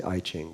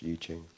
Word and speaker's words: I Ching: The I Ching, some people say I Ching, but it's actually pronounced Yi Ching.